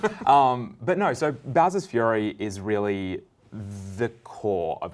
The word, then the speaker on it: Fury: 3d world plus bowser's fury yes some people think it's pronounced bowser's furry but i think those